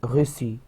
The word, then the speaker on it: reçu: بس هنحط اكسون سيداي في السي عشان بس تتنطق حرف السي اس تبقى recevoir تبقى reçu reçu.